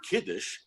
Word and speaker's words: kiddush: second question what does the word kiddush which rhymes with Yiddish mean does it mean